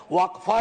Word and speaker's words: वक्फ: और अलग अलग लोग इसका प्रोनाउंसिएशन अलग करते हैं, कोई वक्फ बोलता है, कोई वकफ बोलता है।